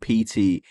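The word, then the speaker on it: P.T.: An untranslatable French pun, the game demo is called PT, which is pronounced exactly like Peter, the verb to fart.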